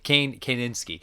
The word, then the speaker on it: Kanefsky: It's not Kaczynski, not Ted Kaczynski, but Kanefsky.